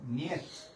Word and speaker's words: Нет: Нет.